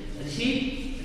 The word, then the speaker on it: receipt: Receipt. Receipt. Okay. Receipt. Receipt. We are called yes, receipt. Not receipt. Only receipt. Here P is silent.